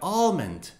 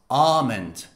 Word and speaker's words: almond: them but pay attention the american pronunciation includes the l very very slightly it's like almond almond however the british pronunciation does not pronounce the l almond almond so almond american